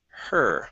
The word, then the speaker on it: her: Next up is the word her right here. Instead of ha, it's Mhm. her. Curve the tongue up, pronounce the R.